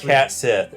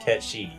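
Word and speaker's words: Cait Sith: Yeah, so it's like those it's are not pronounced Cat Sith or Kate Sith. It's pronounced Ketshi.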